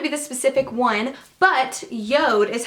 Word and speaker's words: JORD: doesn't have to be the specific one but Yoda is how you pronounce it it looks like George J Ord